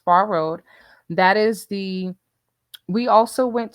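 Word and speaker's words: Phrr Road: It's spelled PHRR. It's pronounced Far Road.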